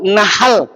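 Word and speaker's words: نحل: Kalau nahal pakai H apa artinya?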